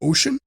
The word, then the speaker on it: Wouxun: Oh, and did you know the pronunciation of the Chinese word Wouxun is ocean?